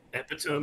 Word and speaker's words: epitome: Epitome is the correct pronunciation for sure.